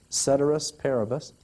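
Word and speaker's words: ceteris paribus: some way down to you'll know how to pronounce this cedus parabus this kind of sounds like Shake Shakespeare Caesar might have said something like this right cedus parabus which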